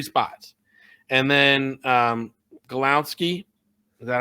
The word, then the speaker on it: Glowinski: And then Golowski, is that how you say it? Glowinski.